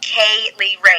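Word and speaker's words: Kay Lee Ray: But if we're going to talk about Viper, we also have to talk about Kaylee Ray. Now, it's spelled K-A-Y, and then it's L-E-E-R-A-Y. So it's three names.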